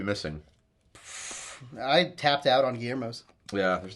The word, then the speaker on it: Guillermo: panic in their face guermo Guillermo Guillermo yeah and I'm like Guillermo that's me it's pronounced Guillermo I just got tired